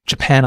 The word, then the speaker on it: Japan: Try saying the word Japan aloud. Ja-pan. Notice how the pan part of the word stands out? That's because this syllable is stressed.